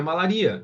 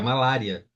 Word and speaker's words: malária: padaria Ah então certo é malaria não Não não é malaria é malária ué mas por quê